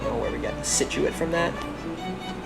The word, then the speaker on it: Scituate: number three we got scituate now you're probably wondering where we get that from and honestly i really don't know where we got the scituate from that i guess the c is silent all right you knew